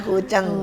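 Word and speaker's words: 古筝: ya aku guceng gitu Iya tulisannyaeng gitu ya eng gitu oh Tapi bacanya kuceng kak wah Semoga bisa nih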